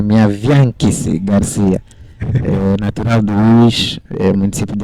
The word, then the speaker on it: Miaviankisi Graciano: Na verdade, o nome se pronuncia minha Bianquice Garcia.